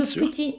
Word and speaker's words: petit: pour le petit le petit Nicolas ok ça va ça va attention les les les Japonais ont tendance à à dire petit et pas petit c'est bien un peu comme dans un petit peu voyez un petit peu